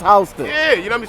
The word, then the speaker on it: Houston: It's spelled like Houston but it's pronounced Hston.